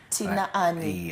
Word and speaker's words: Tinaani: is it a it's actually tinani tinani yes so people actually pronounce it like tinani tinani so you know